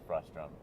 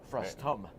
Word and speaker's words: frustum: related to Virtual production which is frustrum frustum frustum oh saying it wrong yes everyone does then it's a hard word to say frustum still fun to